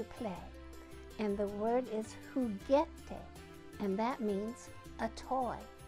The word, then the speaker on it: juguete: And the word is juguete, and that means a toy.